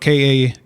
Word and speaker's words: Kali: called uh call if you need me but it's spelled k-a-l-i-f-u n-e-e-d m-e so the first part is kali